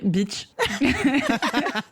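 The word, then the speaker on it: Bitche: Salope est vrai, sauf que le village s'appelle Beach.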